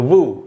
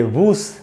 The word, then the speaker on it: vous: और वी, ये जो है वी, इससे बना है दोस्तों वू, VOUS। एंड में जो एस है उसको नहीं पढ़ेंगे, तो हम इसको पढ़ेंगे वू, ये वूस नहीं होगा।